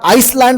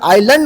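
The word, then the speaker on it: island: Word मध्ये आहे उदाहरणार्थ आता आय एस एल ए एन डी मी सुद्धा जेव्हा या वर्डला वाचायचो ना आय एस एल ए एन डी तर याला आईसलँड वाचायचो. का कारण एस आहे ना भाई पण नंतर स्टडी केल्यावर समजलं की भाई एस हा वर्ड या ठिकाणी सायलेंट आहे याला कस वाचणार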